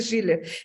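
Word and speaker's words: Schüler: unos y de otros Este no es schuler o schiller es schiller pero se escribe schuler con diéresis pero se dice shiller la esposa del señor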